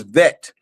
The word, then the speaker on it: Beit: Another way you could pronounce the Beit is Vet, of Vav. And so is Ab, or is Av.